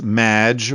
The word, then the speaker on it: Magnot: have mispronounced my name it's madge which rhymes with badge uh as in duh